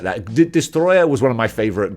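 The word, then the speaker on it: Destoroyah: Godzilla franchise this is Destroyer I just love pronouncing his name like that because that is how they say it in the film that's how you pronounce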